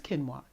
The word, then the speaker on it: quinoa: I and OH a people pronounce it a lot of different ways but it's kinwa and it's a grain